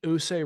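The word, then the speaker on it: Ouse: the I I will not be able to pronounce this USA River ousa Mike uh who say River yes U say River and promptly seized York Harold of England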